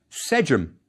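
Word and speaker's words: sḏm: that's our first hieroglyph an ear is a triliteral representing three sounds one after the other s j and M it's as if we wrote the folded CLA Serpent and Owl one after the other it's pronounced Sim and the word means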